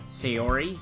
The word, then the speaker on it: Sayori: Sayori, I believe is how you pronounce her name.